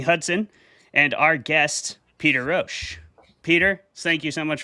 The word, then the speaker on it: Rosch: Our debaters tonight are going to be Jeremy Hudson and our guest, Peter Rosch. Peter, thank you so much for coming on the show, man. I am pronouncing your name correctly, I hope.